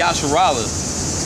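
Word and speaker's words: ישראל: Okay, in Israel in Hebrew, that means, you pronounce it Yasharallah.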